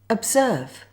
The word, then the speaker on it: observe: Notice how quickly I say it, compared with the stressed syllable. Serve, observe, observe. This is a really good example of where the letter O is weak.